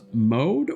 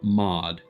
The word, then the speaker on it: Mod: voice than with text is your is your name pronounced mode or mod just say one or two mod okay just making sure